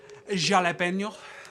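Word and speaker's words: jalapeño: And what I like to do, I like some jalapeno. That's proper pronunciation.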